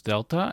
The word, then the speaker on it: Delta: letter we have is Delta and it is pronounced like the English th sound in this the next letter we